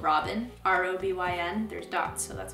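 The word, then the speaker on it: Robyn: beautiful there was one song on here called robin r-o-b-y-n there's dots so that's why i say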